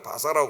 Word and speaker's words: 바사: 후에 70년 만에 또 지금의 이란이라는 이제 중국발음으로 해가지고 바사라 나옵니다 바사 바사 제국의 고레스왕 그 고레스는 왕을